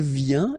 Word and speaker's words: vient: Then il vient, exactly the same sound because final T here is not pronounced.